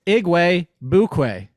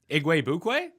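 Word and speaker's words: Igwebuike: be say it again this one's easy it's iguay bukwei igue bukwe yup very well that is pretty easy so godwin iguay bukwe i have at number 52.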